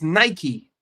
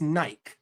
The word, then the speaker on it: Nike: It's Nike in America. I know that technically, by the letter of the law, it's Nike, but I don't live in England, and I don't live in England.